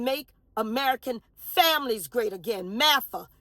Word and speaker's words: MAFGA: American families great again mafa the g is silent m a f g